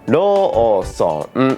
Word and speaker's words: Lawson: Anyway, in English, you'd count 2 syllables, la-son. But in Japanese, the intuitive way to separate the word Lawson is ro-son, 4 beats.